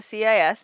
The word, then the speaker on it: cis: i s theta and it's pronounced cis just like that like it's two s's um and that c